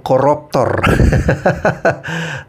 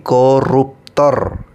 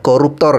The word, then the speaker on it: koruptor: Indonesia dengan baik ya bukan koruptor tetapi koruptor ya tadi saya mendengarkan Anda bilang koruptor jadi benarin dulu penggunaan ee pelafalan kata-katanya itu ya koruptor ya bukan koruptor Oke Guys kita lanjut